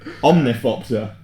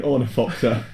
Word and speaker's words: Ornithopter: Omnithopter. Don't you mean Ornithopter?